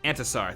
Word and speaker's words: Intisar: And it's pronounced Antasar.